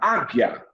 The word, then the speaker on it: águia: Então vamos ver aqui a palavra águia. Águia. Você ouve o som do U?